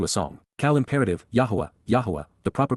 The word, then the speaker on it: Yahweh: Yahweh. The proper pronunciation of the name of Eloha God as directed in his Torah.